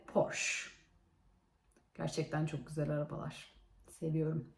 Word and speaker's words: Porsche: alan diye işin açıkçası biz Türkçede bunun Porsche ediyoruz fakat İngilizcesi Porsche Gerçekten çok güzel arabalar